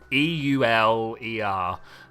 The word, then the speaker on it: Euler: I literally don't know how to pronounce his name. It's Euler.